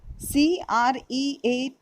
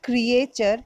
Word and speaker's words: creature: Creature, it's not creature, it's creature. A is silent over here.